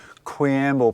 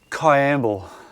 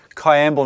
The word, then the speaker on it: Kwiambal: Limestone caves you're are now in quible pronounce a there you go I going to get it right now Cay amble there you go got it right Kay amble national park named after